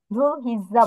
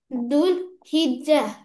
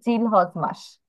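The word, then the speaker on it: ذو الحجة: সেটাকে ইংলিশে ধুল হিজ্জা বলা হয়। দুল হিজ্জা। হিজ্জা, হ্যাঁ, কিন্তু বাংলায় আমরা এটা প্রোনাউন্সিয়েশন করি জিলহজ মাস। জিলহজ মাসে আমরা হচ্ছে কোরবানি ঈদ সেলিব্রেট করি।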